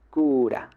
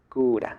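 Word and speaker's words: クーラー: estaba acá todo Chan Entonces esta es la sila q esta como tenemos un guion cito sería la estira entonces No es simplemente q sino q acá lo mismo Esta es la sílaba ra pero no puedo decir ra Simplemente porque le sigue un guion cito Entonces es ra ra entonces cura cura aire acondicionado hay otra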